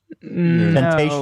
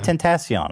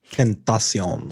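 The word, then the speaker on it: XXXTentacion: Temptation. No, but Temptation that's Island. better. That's closer. That's closer. Okay, yeah. Tentacion. I mean, okay. So how does he say his name? XXX Tentacion? Right. Yeah. Tentacion. So anyway, he passed away.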